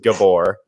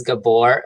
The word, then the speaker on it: Gabor: to say your name properly I think it's pronounced Gabor technically I tell English people in these Gabor blood NZT it's gab or gab or I